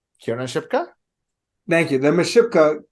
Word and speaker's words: Kiernan Shipka: Just to show that that Miss, let me pronounce her name correctly. Kiernan Shipka?